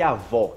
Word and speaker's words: avó: uma vez por todas como pronunciar avô e avó, ok? O-O. Um é grave e o outro é agudo.